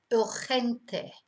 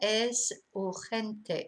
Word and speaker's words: urgente: Now, again, an easy word, but a completely different pronunciation. Urgente. Yeah, es urgente, it's urgent, es urgente.